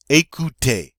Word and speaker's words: écoutez: to fail alright next a coot a écoutez have one of that ooh sounds they also are we